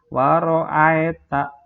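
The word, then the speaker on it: وَرَأَيْتَ: Lihat dari yang ai dulu, dibaca ai bukan ae. Jadi waro'aita bukan seperti itu, tapi waro'aitan nasa.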